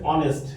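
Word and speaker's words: honest: অনেস্ট, কি আছে?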